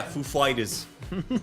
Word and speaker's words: Foo Fighters: much a fan I I love the story behind why Christopher Wen pronounces it that way oh yeah yeah yeah that gr told him the emphasis was on the fighters not the foo he's like so you